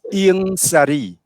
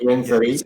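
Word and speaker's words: Ieng Sary: And another person is Ieng Sari. Ieng is I-E-N-G. Ieng Sari.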